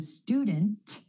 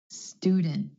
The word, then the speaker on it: student: cluster so for example the word student instead of student student my tongue stays up for the T sound after the N student I'm glad I'm not